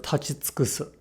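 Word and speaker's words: 立ち尽くす: For example, let's look at the verb tachitsukusu. If we say this verb slowly, the u is quite audible. Tachitsukusu. However, the faster we say this word, the more the u loses its voicing.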